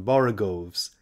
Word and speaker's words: borogoves: rhyme with groves again the first o in borogoves is pronounced like the o in borrow i have heard people